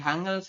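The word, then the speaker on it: 한글: Yang ini adalah hangel ya tulisannya hangel tapi kita bacanya nanti hangel kenapa kok jadi hangel ya itu dalam bahasa Indonesia aja kan n ketemu dengan G dibacanya Eng benar Enggak ini kalau kita gabung bacanya gimana baca kan hangel bener enggak yorobun benar ya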